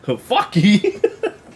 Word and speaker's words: Phaki: Fucky! That got me off guard. Fucky! Fucky. Yeah. I mean, it's spelled Phaki, but you know, when he said it, it's like, Fucky!